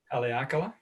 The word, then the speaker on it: Haleakala: Because by the time, again, you pronounce the volcano so well. Say it again, please. Haleakala?